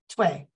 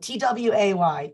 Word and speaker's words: Tway: If you're wondering how to pronounce that, Tway, like T-W-A-Y, Tway.